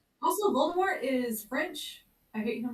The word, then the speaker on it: Voldemort: them like say Lord Voldemort, you know, because and I was like no, this is English book. We're not doing French pronunciations. We pronounce the T.